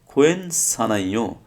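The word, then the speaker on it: 괜찮아요: Same খোয়েন সানাইও, খোয়েন সানাইও, এখানে হিউতের উচ্চারণটা হয় নাই, কারণ হিউতের পর কি আসছে, ইয়ং আসছে।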